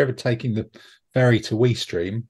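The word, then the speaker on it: Ouistreham: So if you're ever taking the ferry to Weestream, which I believe is how it's pronounced, not Weestram, you should stop and look at Caen Castle, because that's very jolly.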